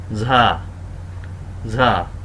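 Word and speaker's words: زا: কিন্তু উপরে এক নুক্তা ঝা ঝা আমরা অনেকে এটাকে খুব শক্ত করে ফেলি অনেক ঝর্ণার বাংলা ঝ এর মত করে ফেলি আসলে এত শক্ত হবে না ঝয়ের মত হবে না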